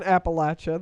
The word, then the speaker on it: Appalachia: pothole yeah from pi appalachia yeah deep in appalachia the latch is is the correct pronunciation and anyone who tells you differently lies